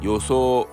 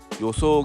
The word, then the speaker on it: 予想: Yoso, it means prediction, expectation. In Japanese, there is no accent kono in the word. This word is classified under the first type of pitch accent.